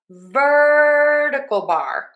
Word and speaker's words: vertical bar: So we are going to stress syllable number one in ver and then we have a schwah du bar. So we have vertical bar vertical bar vertical bar vertical bar vertical bar or pipe.